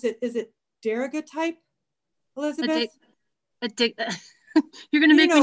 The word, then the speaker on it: daguerreotype: Is it daguerreotype, Elizabeth? You're gonna make me not be able to see it. A daguerreotype.